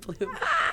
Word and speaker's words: Blum: Bloom. Yeah. Well, it's spelled Blum, B-L-U-M.